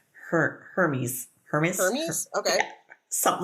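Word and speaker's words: Hermès: I want to call it Hermes because it's spelled the same, but it's Hermes.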